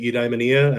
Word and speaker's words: Eudaimonia: My philosophy professor pronounced it Eudaimonia, and I kind of went with that.